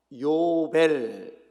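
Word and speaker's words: יובל: 이 희년 은 히브리어 로 " 요벨 " 이라 고 발음 합니다 . 저 와 함께 " 요벨 " 이라 고 말씀 해 보시겠어 요 ?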